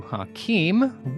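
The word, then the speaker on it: Haqim: town full of vampires she's a Banu Hakim which very Loosely almost rhymes with Aubry hello now Hakim Aubry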